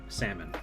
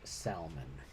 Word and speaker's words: salmon: as well you know he keeps the l silent it is a and